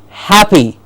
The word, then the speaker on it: happy: And the next word, I hope, which all of you are, because I am, to be with you, is happy. Ha gets a stress. Happy.